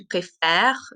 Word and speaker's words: préfères: But this one here, because it's E consonant, E, and when you say it, tu préfères, the R is the last sound because the ES is silent.